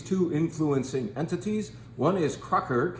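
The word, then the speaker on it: Kracher: who are these two influencing entities one is Crocker k r a c h e r perhaps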